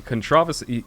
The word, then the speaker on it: controversy: in the u.s it's controversy like we put an i'll look it up well we put the emphasis on a different syllable go back to your